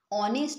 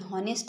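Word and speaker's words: honest: না হবে না কেন যখন দেখবে যে এই আছে ফার্স্ট লেটার কোন ওয়ার্ডের কিন্তু উচ্চারণ করতে গেলে সেই এইটা সাইলেন্ট থাকছে যেমন আমরা হাওয়ার বলতে পারি না আমরা এটাকে বলি আওয়ার অনেস্ট বলি হনেস্ট বলি না ওকে অনারেবল বলি হনারেবল বলি না ঠিক আছে তো সেইজন্য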